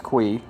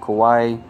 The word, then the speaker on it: Kui: And yes, I did figure out how to say his name right. It's Kui. I don't know why I kept calling them Kiwi and Kawaii. That was not accurate at all.